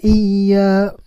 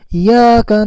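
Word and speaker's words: إياك: Iyyaka na'budu wa iyyaka nasta'in, tidak terbaca tadinya. Jadi harus jelas Iyyaka na'budu wa iyyaka nasta'in.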